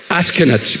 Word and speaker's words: 아스케나츠: 그 성경에 보면 우리나라 말로는 어떻게 되는지 모르지만 첫 번째 아들이 아스케나츠 그래요. 영어로도 똑같이 ASH 케나츠, ASH 아쉬, 그 다음에 KENAZ 그랬어요. 그래서 한번 발음해 보세요. 이 중요한 이름이에요. 아스케나츠 그래요.